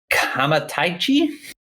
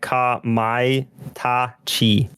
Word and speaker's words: Kamaitachi: and it's called Phantom Kamataichi. Man, I always feel dumb. The thing with Japanese is their vowels are always pronounced exactly the same. It's not like English. So it'd be like Kamaitachi.